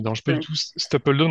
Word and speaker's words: Stapledon: Stapleton, moi j'ai un accent pourri en anglais, donc. Ben, moi, encore pire, puisque moi, je dis Stapledon. Ah ouais, oui, Comme c'est ça encore pire. s'écrit. Comme ça s'écrit.